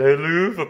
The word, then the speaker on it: Helluva: Hell of a pasty. Mind you, I have heard some posh people pronounce it Helluva pasty, but, well, everyone please themselves which way they say it.